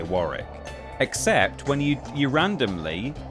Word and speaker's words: Warwick: actually an example, but similar like Warrick is Warwick but you say Warrick except when you you